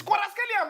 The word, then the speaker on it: Kvaratskhelia: It's Kvaratskhelia, man. Don't say. Listen, can you pronounce my name?